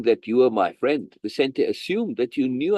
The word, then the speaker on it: Vicente: What is the pronunciation for that? Vicente? Yeah, Vicente's gift.